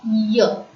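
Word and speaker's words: yeux: Y-E-U-X is pronounced as year. E-U in French is pronounced as so we call Y-E-U-X as year.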